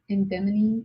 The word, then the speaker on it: edamame: And And those are like edamame? No. edamame. Edamame. Yes. That's how you pronounce it.